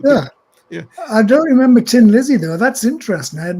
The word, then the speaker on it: Thin Lizzy: a sense you know they turned tin into thin but they would still pronounce it Tin Tin Lizzy so um I must